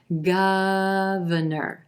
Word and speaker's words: governor: number three governor governor three syllables here emphasis on the first syllable and the ah as in plum vowel sound governor then our second syllable is gonna sound like a schwa very quick and an unstressed er sound in our third syllable governor